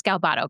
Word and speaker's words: Galbato: It is Galbato, correct? Yes. Okay, wasn't sure if I was pronouncing that right, but she and I have been following each other for a while now.